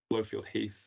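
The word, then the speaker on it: Blofield Heath: We'll move then to site listed EE, which is GNLP ref 1048R, land east of Woodbastwick Road, Blowfield Heath. Again, was the pronunciation correct there?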